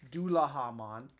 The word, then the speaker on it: Dullahamon: It's Dullahamon, based on the theme, the Headless Horseman in Japanese mythology is called the Dullaha. or the Doulahan, sorry.